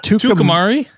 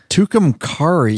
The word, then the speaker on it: Tucumcari: It's called Tucumari. Tucumcari.